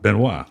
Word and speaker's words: Benoist: The family would say Grace Benoit. Benoit. Yeah. Right. Yeah. It's spelled Benoist. Benoit.